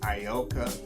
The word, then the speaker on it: Ayoka: s-e-e-n apostrophe T U by a writer named ayoka B now ioka is spelled a-y-o-k-a but it's pronounced ayoka that's spelled a-y-o-k-a and